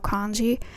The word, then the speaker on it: 間: It's pronounced as kan in words like 時間, time.